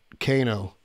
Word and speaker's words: Cano: Is it Canned or Cano? Cano.